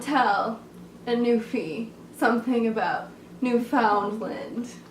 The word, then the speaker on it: Newfoundland: You don't tell a newfie something about Newfoundland. It is pronounced, if you were wondering, Newfoundland. Emphasis on land.